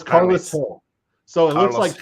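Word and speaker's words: Carles Gil: I thought it was Jill, but it's Carlos Hill.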